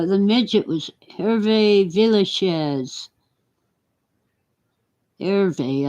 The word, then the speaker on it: Hervé: Hervé, I guess. The H is silent in Spanish.